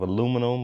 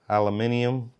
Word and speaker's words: aluminium: It's made out of aluminum or aluminium, however you normally would pronounce it.